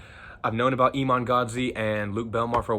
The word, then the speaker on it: Iman Gadzhi: I've known about I'm gonna say Iman Gadzhi. That's the way I pronounce it. I've known about Iman Gadzhi and Luke Belmar for a while, but I just started listening to their shit.